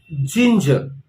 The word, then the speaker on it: ginger: So again, the stress is on the first part of the word, garlic. The next vegetable is ginger, which is called in Hindi adrak.